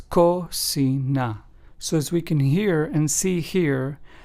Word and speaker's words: cocina: And cocina, which means kitchen in Spanish, is pronounced as cocina.